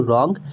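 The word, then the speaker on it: wrong: तो जैसे यहां पे रॉन्ग था तो रॉन्ग में डब्लू के बाद आर आया है तो रॉन्ग हमने पढ़ा है।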